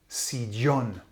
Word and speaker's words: sillón: Where is sillón? Where's the accent falling? Where's the emphasis falling? It's falling on the O. It shouldn't be there. It should be on the I, because this is a nose rule.